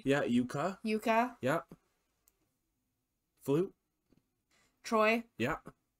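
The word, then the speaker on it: Jukka: Spelt with a J, but sounds like a Y. Yeah, Yuka.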